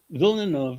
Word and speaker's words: Villeneuve: I pronounced it as Denise No, it's Villeneuve.